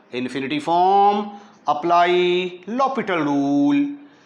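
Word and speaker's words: L'Hôpital: ओ infinity form apply लो पिटल rule लो पिटल rule लो पिटल rule हॉस्पिटल के जो spelling है वही वाले हैं ल पिटल रूल कहता है के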